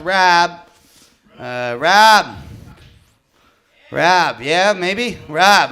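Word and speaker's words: Raab: I believe it's pronounced Rob.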